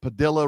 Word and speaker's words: Padilla: We sent a couple airplanes down to El Salvador full of illegals and one of them was the Maryland man that Padilla rhymes with armadillo went down and had